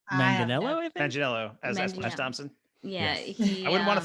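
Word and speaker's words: Manganiello: as a high school student yeah joe magnio magniello did i say it right manganello yeah i wouldn't want to fight him that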